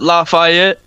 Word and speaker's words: Lafayette: Yeah, we pronounce it Lafayette.